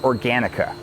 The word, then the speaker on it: OrganiK: It's spelt organ with a K on the end. So it's Organ K, but it's pronounced Organica.